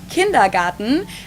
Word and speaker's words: Kindergarten: Yeah, in German we pronounce it kindergarten and it literally means children's garden.